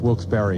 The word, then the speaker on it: Wilkes-Barre: The guy told me it's pronounced Wilkes-Barre. Who cares? I thought so, but I wasn't sure. Is it Wilkes-Barre? That's what he said. It's Wilkes-Barre. B-A-R-R-E, right? Yeah, but it's Barry.